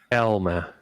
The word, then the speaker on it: Alma: sonoma and alama media or if i would pronounce in an american accent and alma media alma yeah it's from the uh you know like alma mater it's alma media right right and sonoma especially